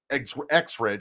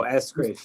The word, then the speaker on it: Eskridge: They have Exridge, I believe that's how you say his name. Oh, Eskridge, yeah.